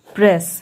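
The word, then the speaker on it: press: यहाँ पे प्र ए प्रेस, हमेशा याद रखिए कि जब दो एस या दो टी या दो एल जब होता है तब हमें उसके सिर्फ एक ही साउंड से पढ़ना है, दोनों को रिपीट नहीं करेंगे, दो बार नहीं करेंगे। ठीक है, सिर्फ एक ही एस का साउंड प्रोड्यूस होगा, प्रेस, प्र आई ड प्राइड, ई साइलेंट।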